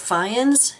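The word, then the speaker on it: Fyans: in northern Maine uh his last name I believe it's pronounced fans it's FY a NS and I will put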